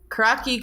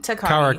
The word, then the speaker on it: Karakai: Then, okay, so Karaki kind of like, do you say like Karaki or I can't say it. Takagi. Karakai.